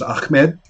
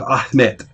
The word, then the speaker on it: Ahmet: It's hard to lip read, but the pronunciation is not Arabic, which is Ahmed, but Ahmet.